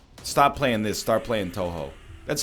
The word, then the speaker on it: Touhou: can dodge that stop playing this start playing Touhou that's how you pronounce that I think every time I say